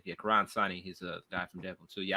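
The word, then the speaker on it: Karan Soni: I realize that's pronounced his name. Yeah, Karan Sani.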